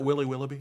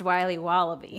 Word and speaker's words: Wiley Wallaby: Can I have a piece of that Willy Willoughby? Wally Wibbly. Wiley's Wallabies. Wallaby Wallies. Wilby Wobbaby. It's pronounced Wiley Wallaby.